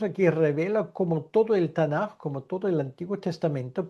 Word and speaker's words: Tanaj: Jesús aquí revela como todo el Tanaj, como todo el Antiguo Testamento, porque esto es Tanaj, ¿vale? T de Torá, N de Neveim, K de Ketuim, intercalado dos as para poder pronunciarlo mejor.